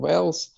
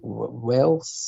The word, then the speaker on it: Wales: yeah actually he's from Wales uh how do you say it Wells yes Wales you've got to be careful you corrected yourself very quickly well done yeah